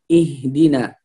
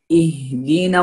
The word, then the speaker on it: اهدنا: Fal-qira'a as-sahiha li hadhihi al-aya naqul اهدنا الصراط المستقيم. هنا الهمزة مرققة فنقول اهدنا، والهاء أيضا هو حرف ضعيف هنا فلا يفخم أو يأتي كأنه مفخم لأن قبله همزة مرققة، فنقول اهدنا الصراط.